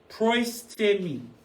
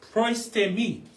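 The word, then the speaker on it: προΐστημι: So the Greek word for over you comes from the Greek word proistemi. Proistemi. That's how you say it.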